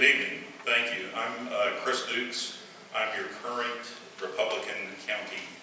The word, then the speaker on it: Dux: thank you good evening thank you I'm Chris Dukes I'm your current Republican County chair the last name is pronounced Dukes but it's real easy to see on the